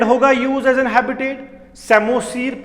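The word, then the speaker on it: psammosere: तो जब सैंड होगा यूज एज an habitat, सेमोसीर, P silent रहेगा।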